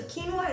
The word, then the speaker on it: quinoa: guys um a little bit about quinoa so quinoa is spelled q-u-i-n-o-a but it's pronounced quinoa and it's